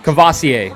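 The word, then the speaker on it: Kavosiey: yeah kbsu smoke kavosi can't remember how to pronounce the name kovacier that's how you pronounce it kavacier smoke they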